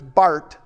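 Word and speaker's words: Karl Barth: and then you got Carl Bart b a b a t h it's but in German it's Bart and uh Carl Bart is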